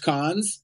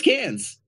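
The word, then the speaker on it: Cannes: know it's not pronounced cons I know it's it's cans yeah that's up are you serious I swear to God like like a tin can dude it's called cans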